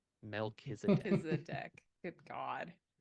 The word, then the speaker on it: Melchizedek: Okay, I need to know how you pronounce that name. Melchizedek. Melchizedek.